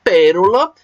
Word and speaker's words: pérola: ter o assunto então Pérola por ser uma palavra proparoxítona assim como ácido assim como lâmpada assim como árvore como qualquer outra palavra proparoxítona ou seja que a sílaba mais forte seja e a antepenúltima Neo última sílaba penúltima